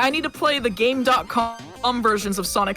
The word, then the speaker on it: Game.com: I for one can't wait for the Gamecom runs by Flying Fox next FF. Is it pronounced Gamecom? When you turn it on, it goes Gamecom active. So that's my assumption.